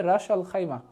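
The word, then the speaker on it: Ras al-Khaimah: আমি খাইমা লিখে দিলাম এটা উচ্চারণটা হবে রাস আল খাইমা রাস আল খাইমা ভেরি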